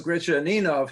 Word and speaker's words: Gretchaninov: because Gretchaninov himself wrote in his autobiography, "The way to pronounce my name is Gretchaninov," and so they must have been mispronouncing it back in his lifetime.